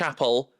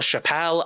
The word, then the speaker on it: Chappell: throughout this I apologize I understand it's Appel but I know some people call her Chappelle and I I know that's not correct and if she comes